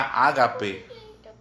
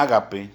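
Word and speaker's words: ἀγάπη: una palabra en en su original en griego que se pronuncia ágape que viene del amor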